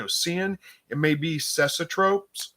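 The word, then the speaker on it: cecotropes: seeing it may be cesotropes uh which i think is how you pronounce it anyway it's kind of spelt like it sounds c-e-c-o-t-r-o-p-e-s you can kind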